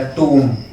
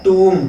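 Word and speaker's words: tomb: ऊ है तो टूम, और बी आपका साइलेंट रहेगा, टूम, बूम। ठीक है। तो जहां पे एम और बी हो लास्ट में एक साथ दिए हुए हो तो वहां पे बी क्या होता है, साइलेंट होता है, उसका साउंड नहीं किया जाता है।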